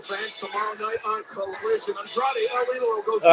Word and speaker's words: Andrade El Idolo: No, you gotta roll your R's. It's Andrade El Idolo. like that. I love it when you get juice purring. No, boys, it's Andrade El Idolo.